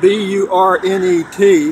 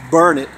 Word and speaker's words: Burnet: I'm at the Burnet County Airport in Burnet, Texas. It's spelled B-U-R-N-E-T, but it's pronounced Burnet.